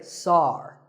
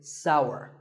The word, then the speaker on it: sour: what about this taste it's pronounced sour some people say sar that is a mispronunciation the only correct way to say this word is sour many words in the